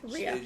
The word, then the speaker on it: Rhea: Am I pronouncing it? Rhea.